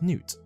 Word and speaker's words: Nut: However, the god's name is pronounced Nut.